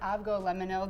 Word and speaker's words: avgolemono: and first of all I pronounce it aggo lemono there's different ways to pronounce it and it literally translates